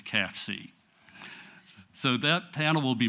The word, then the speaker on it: CAFCE: And I know it's a mouthful, but the way you pronounce the abbreviation is CAFCE.